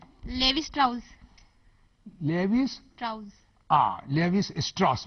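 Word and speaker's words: Levi Strauss: कोई लिवाई है, उसको कोई लेविस भी बोलते हैं, लेवी भी बोलते हैं, कई तरह तरह के। लिवाई स्ट्रॉस, ठीक है।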